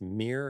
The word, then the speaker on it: mere: m e um and actually not it's not like Mir cat not like Mir cat not like mirror it's mere exposure effect and they first studied